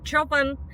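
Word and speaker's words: Chopin: в прошлом видео исправляли, что неправильно говорить шапен, а надо говорить чопен. Ээ, я знаю, что в польском языке фамилия композитора звучит именно так, но мы наши видео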